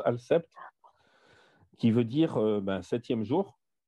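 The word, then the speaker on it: السبت: En arabe, al-sept, ça s'écrit al-sabit, mais ça se prononce al-sept, qui veut dire septième jour.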